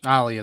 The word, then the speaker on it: Alia: that's it yeah Aaliyah so when Alia that Alia that's how you say it yeah I'm used